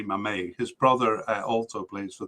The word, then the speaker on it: Mmaee: And in the last podcast, I had no idea how to say his last name, because it's spelled Mmaee. You try to say it. Go ahead, try to say it. Yes, you can you? Well, I couldn't either until the African Cup, where I saw that they pronounced it Mame, Sami Mame.